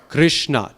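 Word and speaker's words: कृष्ण: So the word Krishna has how many vowels? 2. Ri, kr, and a. Krishna, 2 syllables.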